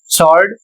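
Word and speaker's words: sword: अगला शब्द है एस डब्ल्यू ओ आर डी सॉल्ड और इसका अर्थ होता है तलवार।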